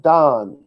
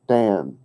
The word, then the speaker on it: Dan: so it's other tribe of the staff of Donn it's spelled ein in English but you pronounce it down not Dan don don means judge but it's the name